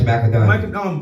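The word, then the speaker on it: Macka Diamond: You know, you work with Doja Cat, Bobby Shmurda, Macca Diamond. That's how you pronounce her name? Yes, Macca Diamond.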